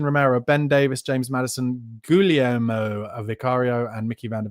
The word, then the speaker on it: Guglielmo: Ben Davis, James Maddison, Guglielmo Vicario, and Mickey van der Ven. How do you pronounce that? I usually say Guillermo, but it's not, is it? Guglielmo.